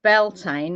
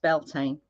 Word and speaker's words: Bealtaine: Um, as far as I'm aware, it's pronounced Beltain, although it can be spelled different ways. All right. Okay. Yes. But as far as I know, it's pronounced Beltine.